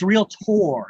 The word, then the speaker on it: realtor: f it's real tour you notice how i'm saying real tour yeah i'm saying it tore for a reason it's not spelled with an ir it's not spelled with an er it's spelled with an o r at the end real four so what's